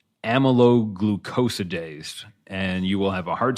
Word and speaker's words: amyloglucosidase: It's an enzyme, I suppose, but it's pronounced amyloglucosidase, and you will have a hard time Googling that one, as I had a hard time spelling it.